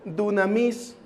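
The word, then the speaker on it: δύναμις: poner en pantalla y se pronuncia dunamis que significa el poder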